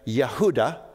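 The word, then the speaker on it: יהודה: it was very popular the Hebrew pronunciation would have been yahudah and this was uh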